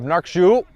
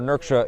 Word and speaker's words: Nurksha: Trying to see the run of Nurkshu. Or Nurksha, excuse me, I mispronounced that.